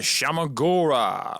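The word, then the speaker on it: Shuma-Gorath: There is a Shamagora. I love saying that way because that's the correct way to say it.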